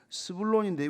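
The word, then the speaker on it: זבולון: 그래서 이제 6째 아들이 나니까 그 아들 이름을 스불론인데 원래 이게 히브리식 발음은 제불론이라고 동거하다, 뭐 같이 있다, 같이 거하다 이런 뜻이에요.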